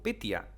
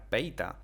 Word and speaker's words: Petya: Sí, habéis escuchado bien, digo Petya, y lo voy a seguir repitiendo mal durante todo el vídeo. Realmente se pronuncia Peita.